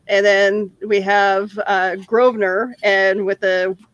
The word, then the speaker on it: Grosvenor: then we have uh grosvenor and with a with an s in the word but you're not supposed to pronounce the s okay i i think